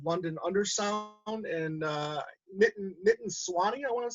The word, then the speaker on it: Sawhney: It's from an album called London Undersound, and Nitin Sawhney, I want to say. Sawhney? Yeah. Yeah, that's how you pronounce his name.